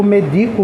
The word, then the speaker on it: medico: medico tipo assim eu medico você eu lhe dou remédio a sílaba tônica é o d Então ela é uma paroxitona é a mesmo